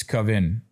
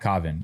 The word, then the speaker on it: Kavin: Victim Cavin's father has alleged that both the cop it's Cavin. He's mispronouncing the name. It's Cavin. It's not Caven. It's Cavin. Cavin.